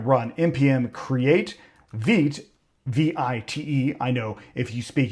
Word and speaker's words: Vite: is we're going to run mpm create vit vi t. I know if you speak English that is vite to you, but it's pronounced vit anyways.